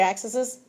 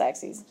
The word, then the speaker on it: axes: axes there because it's what do you say accesses it I was always taught that it's it's pronounced axes so ladies y'all need